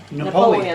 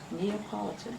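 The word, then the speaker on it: Neapolitan: I'm talking about because that's what my family called it was Mar calls it Napoleon ice cream that's what I I call it my whole life that until I looked at it one time and see how it was really spilled neopolitan your whole life was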